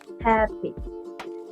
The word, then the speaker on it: happy: have a nouns and most nouns and adjectives with two cylables have the stress at the first syllable for example happy happy in the verse have